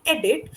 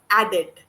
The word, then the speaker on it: edit: For example, you are saying edit, but it's coming out as addit.